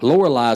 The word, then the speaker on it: Lorelei: Lorelei is beautiful. It is. How do you spell Lorelei? Trina? Lorali. Lorelei. Just like it's spelled.